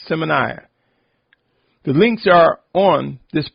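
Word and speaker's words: Symmanayah: m a n a y a h it's pronounced seminar the links are on this podcast channel just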